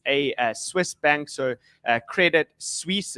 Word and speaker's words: Credit Suisse: Swiss bank so uh Credit Suisse is how you pronounce it um and yes I'm